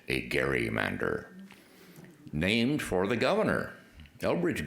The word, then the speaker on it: gerrymander: with a hard G we pronounced gerrymander with a soft G I don't know when